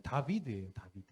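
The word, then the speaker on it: דָּוִד: 모음은 나중에 생각이 자음인데 저걸 읽으면 다비드예요 드 알파벳 영어로는 네이비시죠 앞에 있는 저 맨 앞에 있는 글자가 D 그리고 밑에 달렛 그리고 마브 날렛인데 저게 다비드 이런 이렇게 읽거든요 이게 우리 한국말로 편하게 발음하기 위해서 그냥 다윗 이렇게 된 거예요 한번 넘겨 보실래요 근데이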